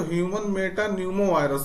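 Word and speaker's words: metapneumovirus: पी बी कह र लेकिन इसका नाम अगर देखें तो ह्यूमन मेटा न्यूमो वायरस है तो ये पी जो है साइलेंट की तरह कार्य कर रहा है तो याद रखना है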